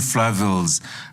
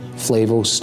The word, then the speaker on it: Flavel: book uh turning to Flav St off on the doctrine and the Mystery of Providence so we have Flavel for Mark de and comrad MBE and Flav for alist beg but are those the